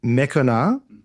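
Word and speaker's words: Meconah: In Ziklag and Mekonah, and its surrounding villages. Because again, you pronounce the C as a K sound.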